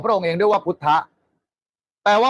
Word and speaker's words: พุทธ: พระ องค์ เป็น พุทธะ ก็ ที่ เรา พิมพ์ ว่า พุทธ มัน อ่าน ว่า พุทธะ ไง พระ พุทธเจ้า น่ะ เป็น คน